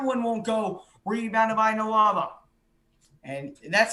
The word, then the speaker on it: Nwaba: Rebounded by Noava. And that's how you say it, right? Nwaba, yeah. You got Nawaba.